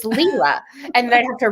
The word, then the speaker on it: Lila: out of 40 that the way to pronounce her name is leela yes i saw that the narrator says lila the whole book that's